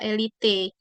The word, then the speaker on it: elite: Indonesia ternyata tulisannya adalah elite pakai e jadi memang itu agak disayangkan Padahal kita bacanya sih elit ya Tapi ketika dibakukan itu pakai elite pakai e jadi ini jawabannya adalah